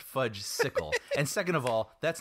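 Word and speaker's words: Fudgsicle: Where were the werewolves and where are the fudgicles, you know? And I'm like, no, that sounds terrible. Like, yeah. I don't want to see that. First of all, Harry, it's pronounced fudge sickle.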